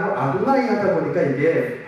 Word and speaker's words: 아도나이: 말해서는 안 되겠다라고 해서 이 글자를 읽지 않고 이걸 뭐라고 말하면 아도나이를 말합니다. 아도나이. 야훼라고 발음하지 않아요? 이 글자를 보면 아도나이라고 얘기합니다.